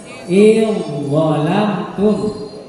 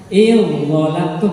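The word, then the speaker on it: أدغلمتم: Jadi cara membacanya idghalamtum. Idghalamtum, jangan ingat kalau dibaca idghalamtum salah. Langsung idghalamtum. Zalnya itu tidak usah disebut lagi. Gitu ya.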